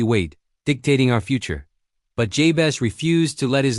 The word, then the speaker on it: Jabez: In Hebrew, the name Jes literally sounds like the word for pain or sorrow.